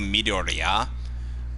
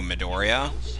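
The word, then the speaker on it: Midoriya: pronounce um isuku name it's pronounced in the Japanese version It's pronounced isuku midoria whereas the dub pronounces it isuku midorya due to the accent and on the wrong syllables yeah I know I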